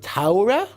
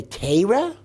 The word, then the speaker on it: Torah: Do you say Taura, which is the German pronunciation? Do you say Torah, which is the Polish pronunciation? Do you say Teira, which is the Litvischer pronunciation?